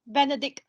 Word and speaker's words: Benedict: It's pronounced Benedict, not.